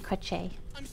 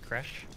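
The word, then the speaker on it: crèche: captain of the githyanki crochet um it's pronounced Crush crochet if you press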